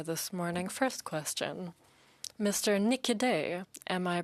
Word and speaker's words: Niquidet: Nikide, am I pronouncing your name correctly?